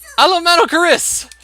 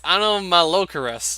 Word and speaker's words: Anomalocaris: Alomalocaris! It's Anomalocaris.